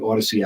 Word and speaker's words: Audacy: Also, 101.5 FM KDWN, and on the Odyssey app. If you haven't downloaded it, do it now. It's spelled AUDACY, and you just have to search for KDWN or SportsX Radio.